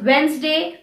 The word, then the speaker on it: Wednesday: or a g in the words such as wednesday pledge grudge some random words which have the